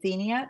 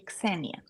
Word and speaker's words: Ksenia: I called her the American way, Xenia, but it's actually Ksenia.